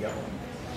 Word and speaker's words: Gelman: How would you pronounce it? Gelman.